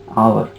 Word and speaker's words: hour: I already told you, silent H, like in HOUR. So this is not hour, this is hour.